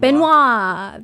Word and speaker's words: Benoit: mysterious, but there's one thing that renowned detective Benoit, how do you say his name? Oh, dude, I was Blanc. like trying to think. Benoit, is it in it like Benoit? Benoit.